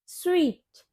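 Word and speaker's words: suite: ये सूट नहीं होता। इसकी करेक्ट प्रोनंसिएशन होती है स्वीट।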